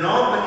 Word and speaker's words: knob: knob can you say knob all right so a knob is what we use to turn and open the door you see the k is silent our next word so